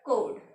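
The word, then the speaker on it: chord: कुछ लोग इसको चोट भी बोलते हैं, आपको जो ठीक लगे आप बोल सकते हो। मैं हमेशा इसको कोड ही मेरा जो प्रोनाउंसिएशन है इसके लिए वो क्या है कोड, ठीक है।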